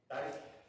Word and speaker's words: Duchik: Hi, did I say your last name right? No, ma'am. How do you say your last name? Dyke.